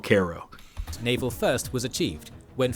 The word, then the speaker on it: Cairo: to the Mississippi below Cairo here another significant common mistake uh it's actually pronounced Koo um even though Cairo is what we call the city that is spelled that way in Egypt that I was just